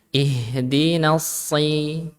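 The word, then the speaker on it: ٱهْدِنَا ٱلصِّرَٰطَ: Ihdinas harusnya ihdinas bukan ihdinas syira. Nah, kadang ada yang bacanya ihdinas syira.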